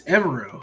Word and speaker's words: Evero: I think it's Evero over Steichen.